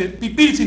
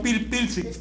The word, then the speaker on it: pipilsi: El primer elemento pierde la consonante. Ya les puse el ejemplo de papalote. No se dice palpalote, sino papalote. Se dice pipilsi, no pilpilsi, etc.